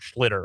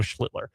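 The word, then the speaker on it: Schlittler: Um, I said I'm thinking of Art Schlitter, obviously Cam Schlitler.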